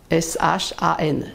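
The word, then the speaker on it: 山: Celui-là, Shan, S-H-A-N, ça se prononce en premier ton.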